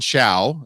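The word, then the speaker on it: Ciao: It's called Chow, as in food chow, but it's spelled the Italian way, because I think that's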